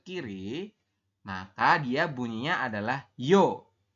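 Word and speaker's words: 여: Kemudian apabila garis tengahnya ini ada 2 menghadap ke kiri, maka dia bunyinya adalah yo. Tulisan latinnya itu yeo, tetapi kita bacanya adalah yo.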